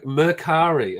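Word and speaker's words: Mercari: the stream is devolving into men shopping it's merari okay yeah uh Hagen second second to last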